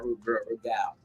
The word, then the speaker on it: Rude Gal: Let me say it right now, Rude Gal. Mandy. You gotta pronounce the G.